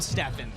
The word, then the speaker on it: Stephan: We're joined here by Graham Stephan, who you might recognize from last year's fight against Michael Reeves. Yes.